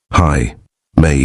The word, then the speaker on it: Jaime: Mexicans did not try but called him Jaime which he pronounced explosively. Hi May with a horse laugh.